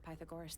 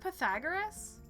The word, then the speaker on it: Pythagoras: say it any good is it not Pythagoras Pythagoras is that true it's not Pythagoras I've been putting the emphasis on the wrong cabel this whole time homemade posters this one's